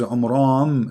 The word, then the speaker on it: Amram: Secondly, he could not pronounce the name correctly of the father of Moses and Aaron, because his name is Amram. So the last letter is M, not N.